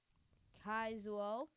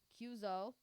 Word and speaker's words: Kyuzo: So, we have Kaizuo Kyuzo. versus Henhachi. Heihachi. Heihachi. Thank you, Miss Correct Pronunciation.